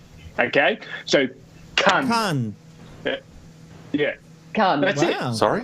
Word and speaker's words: Cannes: The rule to pronounce it correctly, it's as if you're about to pronounce the worst rude word that you could possibly say, but you stop yourself just before you hit the T. Okay? So, cunt. Cannes.